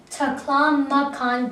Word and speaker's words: Taklamakan: The word how you pronounce it is Gobi, and the other word how you pronounce it is Taklamakan Desert.